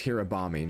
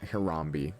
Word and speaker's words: Hirabami: It's Hirabami, not Hirambe. Ugh, I'm stupid.